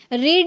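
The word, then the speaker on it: read: पढ़ना second form rate अब यहां पे इसको रेड कर रहा है क्यों यही रूल है जब आप फर्स्ट फॉर्म में आप रीड प्रोनाउंस कर सकते हैं बट सेकंड और थर्ड में आपको रेड प्रोनाउंस करना होगा ठीक है रीड रेड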